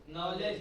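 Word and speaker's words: knowledge: knife मतलब चाकू यह हुआ नाइफ लेकिन अब आएगा के कैनाइट कैनाइट कैन के कहा तो के साइलेंट कौन चीज नॉलेज का हां नॉलेज में एन ओ डब्ल्यू एल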